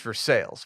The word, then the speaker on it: Versailles: I think is how veres Ohio is just Versailles but it's just for sales which is awesome for sales that's that's